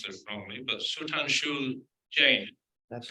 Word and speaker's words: Sudhanshu Jain: It is my pleasure this evening to introduce, and I'll probably pronounce this wrongly, but Sudhanshu Jain.